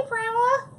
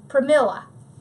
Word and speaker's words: Pramila: Hey, Pramela. I know I'm not saying that right, and Mari told me how to say it, and I keep forgetting. Pramila. That's it.